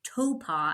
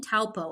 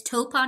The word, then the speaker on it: Taupo: it's pronounced Topa. I keep saying Taupo. It seems to be there's definitely a right or wrong way to say it, but it's Topa, New Zealand is where the race was.